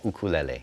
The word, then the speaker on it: ukulele: It's ukulele is how it should be pronounced? Yeah, ukulele.